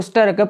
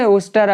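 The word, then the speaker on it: Worcester: இவர் இப்போ இருக்கக்கூடிய இடம் வந்து உஸ்டர் அப்படின்றது. இது வந்து ஸ்பெல் பண்ணும்போது ஒர்செஸ்டர் அப்படின்னு சொல்லி ஸ்பெல்லிங்கில் இருக்கும். அதனுடைய லெட்டர்ஸ் வந்து ஒர்செஸ்டர் அப்படின்னு இருக்கும். ஆனால் உஸ்டர் அப்படின்னு தான் அதை வந்து ஸ்பெல் பண்ணணும், அதை ப்ரொனவுன்ஸ் பண்ணணும். ஸோ அந்த ஒரு இடத்துல தான்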